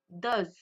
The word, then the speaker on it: does: Dou does. Vous voyez, la prononciation n'est pas la même.